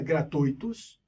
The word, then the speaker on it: gratuitos: itens que são gratuitos a pronúncia de gratuitos na gratuita gratuitos o que é ditongo não é hiato e os dois hifens